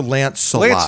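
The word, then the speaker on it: Lancelot: Okay, it is the the pron correct pronunciation is um Sir Lance Salot.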